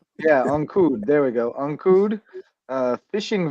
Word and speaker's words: Ancud: Ancua? I think it's like Ancud. Yeah, I don't even know how to say it. Ancud. Yeah, Ancud.